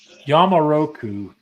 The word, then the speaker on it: Yamaroku: bottle over here it's called Uh oh boy yamaroku and I think that's y a m a